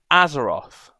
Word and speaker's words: Azeroth: Oh, I've got it totally wrong. Azeroth, I think it's pronounced.